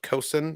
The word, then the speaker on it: coxswain: Oh, the in memoriam also the pirate Kosan. I've learned that this word is pronounced Kosan, even though it's spelled coxswain.